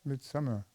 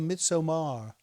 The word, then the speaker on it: Midsommar: Midsummer. No, it's called Midsommar. Very well. Midsummer. Midsummer. Is that what it means? Yes, Why don't they just say bloody midsummer? they do. No, they say Midsommar.